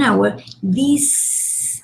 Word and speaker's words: hour: An hour. An hour, the H is silent.